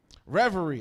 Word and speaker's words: reverie: I'm like that better be pm and I know it's not and it's messing with my brain reverie I'm glad somebody said it out loud I was mispronouncing it all week all week I'm a